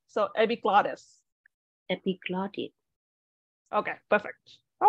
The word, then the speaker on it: epiglottis: accent coach is like when you see that little Double T between um like in English you see the deputy between two uh vowel but actually most Americans will pronounce this as a d so epic Gladys yep it's a little softery so it's like they call us a flap T So epiglottis epiglotted okay